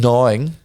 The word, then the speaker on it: gnawing: that ass toys and gnawing i like to pronounce the g and knowing nice good uh gnawing